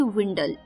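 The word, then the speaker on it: dwindle: तो वो सारी विंडल्स पहले डी लगा है जो कि साइलेंट है तो स्पेलिंग हो जाएंगे डी डब्ल्यू आई एन डी एल ई डी विंडल तो चलिए विंडल के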